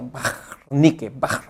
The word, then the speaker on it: Wernicke: Wernicke dice que es un nombre alemán, por eso se pronuncia Wernicke, ¿no? Con ese sonido gutural.